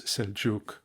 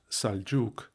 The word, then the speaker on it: Seljuk: or but excepting in such words as are now commonly written in English with an e as seljuk pronounced saljuk marwan pronounced marwan etc.